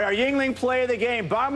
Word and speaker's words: Yuengling: Yuengling.